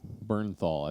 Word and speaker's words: Bernthal: Is it Bernthal? Bernthal, I think is the way they pronounce it.